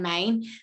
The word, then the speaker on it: Mayne: His surname is spelled Mayne, so Brian, Brian-Mayne, Brian Main, and he basically has created